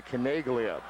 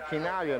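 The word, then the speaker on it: Chinaglia: crowd when the assist was announced to Georgia kagia I mean this is no tal to mispronounce an Italian's name there are a lot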